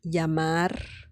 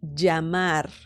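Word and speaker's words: llamar: Double L in Spanish yamar some people pronounce the Double L as in like very similar to the letter Y in English as in yellow okay yellow or um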